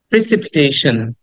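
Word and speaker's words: precipitation: অনেকে প্রেসিপিটেশন বলি অনেকে প্রেসিপিটেশন বলি বাট শুদ্ধ উচ্চারণ করা উচিত এরকম প্রেসিপিটেশন প্রেসিপিটেশন প্রেসিপিটেশন সন সন না এটাকে অনেকে আমরা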